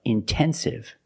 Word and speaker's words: intensive: Or words like intensive, intoxicated. We have the stress after the NT, we pronounce the T like a pure T.